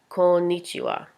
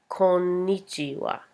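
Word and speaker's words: こんにちは: already know this it's konichiwa make sure to pronounce the all you have to let out the o a little more so I'd be konnichiwa konnichiwa okay so that's hello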